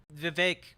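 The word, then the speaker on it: Vivek: oh I'm I'm sure vake rhymes with cake is going to have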